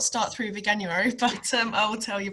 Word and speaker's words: Veganuary: Today we're going to be talking about, how do we pronounce this word? Veganuary? Veganuary.